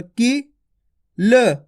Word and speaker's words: किल: अब देखो यहाँ पे छोटी ई की मात्रा लगी का के अंदर, की ल, किल।